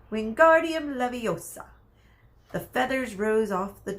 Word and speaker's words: Wingardium Leviosa: having much luck waiting Guardium Leviosa he shouted waving his arm like a windmill you're saying it wrong Harry heard Hermione snap its Wingardium Leviosa make the GAR nice and long will you do it